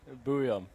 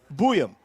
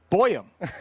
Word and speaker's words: Buium: Will you pronounce the last name the way you believe it's supposed to be pronounced? Buium. Buium. Yeah. Buium. Well, then the thing they gave you was inaccurate. What did they say to you? It said boy. Boyum. Makes no sense.